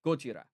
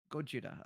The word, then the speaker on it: Gojira: How do you How do you say the actual name of Godzilla? It's Gorgeia. So, it's Go Gogira. Yeah. Gojira. Gojira.